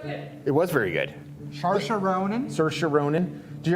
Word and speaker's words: Saoirse: Because it's Celtic spelling, so it doesn't match any phonetic rules.